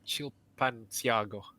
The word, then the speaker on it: Chilpancingo: Chilpancingo.